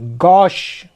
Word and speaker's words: gauche: GAUCHE, गौश।